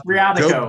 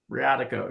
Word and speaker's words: Briatico: Briatico. Briatico. Briatico, yeah.